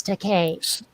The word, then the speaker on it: Takei: how he pronounces it there is an urban myth that shatner said um i don't know how to pronounce your name and george said it rhymes with toupee oh that's seriously funny